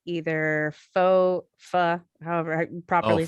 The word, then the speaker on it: pho: I would say either pho, however I properly say it. Pho. Yeah. Pho. In the Okay. Midwest, we all say pho. We know it's not right, but it's still what we do.